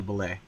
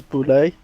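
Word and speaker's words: Bulette: Manicore, the Cockatrice, and the Bullet, or Bullet, depending on how you pronounce it. I think you pronounce it as Boulet, but I've heard it pronounced both ways.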